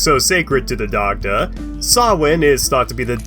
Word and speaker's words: Samhain: Actually, Dr. Loomis, it's pronounced Samhain. I know what it looks like, but I'm serious, they pronounce it...